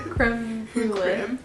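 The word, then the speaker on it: crème brûlée: Creme brulee.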